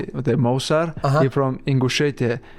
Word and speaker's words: Ingushetia: He from Ingushetia. How I say Ingushetia? I told him like you have to Ingushetia, and he do something right and say Ingushetia. He said it right.